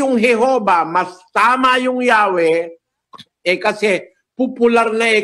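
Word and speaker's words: Yahweh: nila kapatid na Daniel while inclining to view the pronunciation yahwe as the more correct way we have retained the form Jehovah because of people's familiarity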